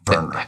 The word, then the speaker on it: Werner: No, it's No, it's Werner Herzog, yeah. Cuz they pronounce the W with as a V, Werner.